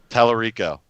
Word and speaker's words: Tallarico: No, but I heard a interview with I'm going to pronounce his name wrong. Tommy Tallarico. Tallarico.